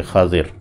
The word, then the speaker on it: خضر: بھی کہہ دیتے ہیں، ویسے عربی میں تلفظ خا کے اوپر زبر ہے، ضاد کے نیچے زیر ہے، خضر۔ تو وعلمناہ اور ہم